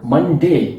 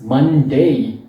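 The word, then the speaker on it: Monday: Remember कि इस word के बेसिकली 2 हिस्से हैं, मन एंड डे। सो पहला वर्ड तो आप यूजुअली सही प्रोनाउंस करते हैं, दैट इज मन, बट सेकेंड पार्ट का जो प्रोनाउंसिएशन है वो ज्यादातर लोग गलत करते हैं। सो इट्स नॉट मंडे, इट्स मंडे। So last में आपको ए का जो साउंड है वो लेके आना है, जैसे हिंदी में हम कहते हैं ए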